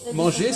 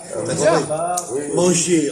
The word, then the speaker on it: manger: Eh bien, manger, ça c'est qu'il n'y a pas de R. Il y a le R écrit, mais ça ne s'entend pas. Manger en français, on ne dit pas manger.